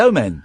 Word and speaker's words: Omen: Yeah, and how do you say that? Omen. The Omen. No. I'm saying the same thing as you. No, but you're saying it wrong. I'm not saying it wrong, I'm saying the Omen! Stop it. What? Stop saying men. It's the Omen.